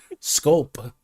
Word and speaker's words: sculpt: Well, the Giannis Antetokounmpo news could sculpt this. It just doesn't sound right. Like sculpt. It's a PT at the end. Sculpt. It could sculpt. Now it sounds like 2 syllables.